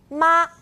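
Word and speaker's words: 吗: horse or ma so this character together is pronounced ma right today we're spotlighting colors as in any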